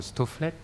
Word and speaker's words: Stofleth: Alors donc j'ai le plaisir de vous présenter donc Stofflet, n'est-ce pas? On prononce le TH, moi j'aime bien prononcer la fin en effet.